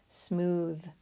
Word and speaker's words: smooth: That's called that voiced TH sound. Smooth. It's all one syllable.